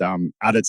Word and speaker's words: ADITS: Yeah, so I know you asked how it was pronounced. ADITS is normally how it's pronounced, but there's been a few reiterations that happen from time to time.